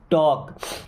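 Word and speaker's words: talk: नहीं चाहता हूं टू टॉक अब देखिए के के पहले या एम के पहले कभी भी अगर एल आता है तो एल रहेगा साइलेंट यानी उसको नहीं पढ़ा जाएगा आई डोंट वांट टू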